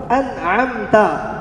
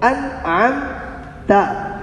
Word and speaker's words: انعمت: عرض کیا گیا تھا اس کو انعمت پڑھنا ہے، انعمت نہیں پڑھنا، انعمت، ورنہ کیا ہو جائے گا؟ غلط ہو جائے گا۔ علی جا صاحب، عارف بھائی، آپ سمجھ گئے؟